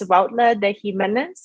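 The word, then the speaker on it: Huautla de Jiménez: in, which I will need your help to pronounce. Yes, of course. It's Huautla de Jimenez in Oaxaca, Mexico.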